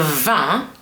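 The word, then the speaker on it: vingt: For now, I want you to remember the g and the t in van are mute. You don't pronounce them. You just say va.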